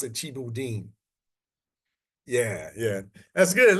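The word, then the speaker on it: thieboudienne: u d i e u n and they pronounce it chibu Deen yeah yeah that's good like see that's good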